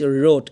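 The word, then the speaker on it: wrote: Right, রোট, এই ডাব্লিউর উচ্চারণ এখানে হবে না, এখানে জাস্ট এই ডাব্লিউ স্কিপ করতে হবে, আর পরের থেকে আপনার প্রনাউন্সিয়েশন শুরু হবে, রাইট, রোট, রিটেন।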